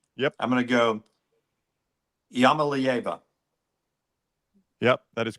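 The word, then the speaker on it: Iamaleava: I'm going to go Yamalieva. Yep, that is correct. Lance, you don't even have to participate. Yamalieva.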